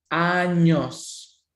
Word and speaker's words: años: La palabra years es años, años, okay, años. Be careful with the sound because if you pronounce the ñ as the N, well, you're going to say something pretty funny.